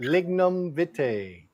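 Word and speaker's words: Lignum vitae: Pronounce it again to my mango drink. Lignum vite. Lignum vite.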